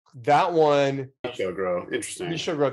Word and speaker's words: Michel Gros: Michel Gros. That's what I said. No, I wasn't actually correcting you. You did pronounce that fine.